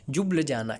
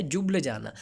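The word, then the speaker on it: Ljubljana: और स्लोवेनिया की कैपिटल आपको याद रखनी है, इसकी प्रोनाउंसिएशन है जुब्लजाना। क्या है? जुब्लजाना।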